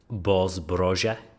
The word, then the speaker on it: Boz Broja: Boz Broja is how you pronounce his name, by the way, Brent.